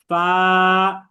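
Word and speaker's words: ف: হ্যাঁ, এরপর আমরা উচ্চারণ করব ফা।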